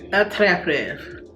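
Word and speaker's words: Attrape-Rêves: Okay, how to pronounce this in French? Attrape Reves.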